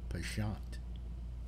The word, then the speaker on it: penchant: misinformation for truth pension penchant yeah or if you're if you're really snotty and you want to say it correctly you go pashant oh excuse me it